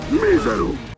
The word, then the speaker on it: miserum: Miserum! Miserum with the classical pronunciation, miserum a more medieval style pronunciation, or more accurately, the ecclesiastical pronunciation of Latin.